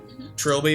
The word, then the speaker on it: trilby: it's like another for that particular thank you Trilby Trilby is that how you say it yep yeah